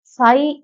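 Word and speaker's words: Tsai: देखिए जब ऐसे वर्ड बोले जाते हैं, जैसा त इसमें आधा बना हुआ है, लिखा हुआ है त सा ई, आप जो पढ़ेंगे इसमें त साइलेंट हो जाता है। ठीक है, तो हिंदी में भी जब हम बोलेंगे इसको साई बोलेंगे, त जो है ये आधा त है, ये साइलेंट हो जाएगा।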